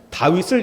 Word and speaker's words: 다윗: 다윗을 히브리어로 이렇게 씁니다. 다윗이라고 그래요. 다윗. 그러니까 데이빗이라는 것과 전혀 다르고 다윗이 거의 비슷한 발음이 다윗이라고 읽는데, 이쪽에 해당하는 게 4, 가운데 철자가 6, 또 4, 4, 6, 4 이렇게 됩니다.